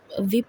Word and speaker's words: whip: ये विप है। इसको बोलना है आपने एज इसमें साइलेंट होगा।